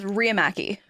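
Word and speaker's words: Riihimaki: name by the way it's Ria Mackie I know it's a lot there's two eyes next to each other it's a it's a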